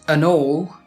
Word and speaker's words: n'all: And all, pronounced an all, means also or too in a Yorkshire dialect.